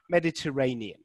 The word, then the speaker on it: Mediterranean: one is it syllable three okay which number syllable do we think has the stress there i'll just say it one more time mediterranean okay so i've got three four and kitty